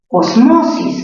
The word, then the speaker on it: osmosis: Osmosis, mayor fuerza en mo, grave terminada en S, no se tilda.